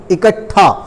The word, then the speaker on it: इकट्ठा: मैं बिल्कुल शुद्ध इसका जो प्रोनाउंसिएशन है बोल रहा हूं, इकट्ठा, यानी कि टा ही इसमें आधा आता है लेकिन दिखने में पूरा है।